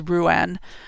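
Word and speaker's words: Ruadán: In Irish myth, Brigid's keening is most commonly linked to the death of her son, and the pronunciation is Ruan, who was killed in battle.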